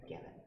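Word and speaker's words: Guevin: Gavin or Gav, G-A-V? How do you spell your last name? G-U-E. G-U-E. V is in Victor. Okay. I, N is in Nancy. Okay. Gavin. U is silent.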